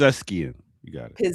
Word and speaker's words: Pezeshkian: His name is um Masoud Pezeshkian. Forgive me if I mispronounce that. Pezeshkian. You got it. Pezeshkian, yes.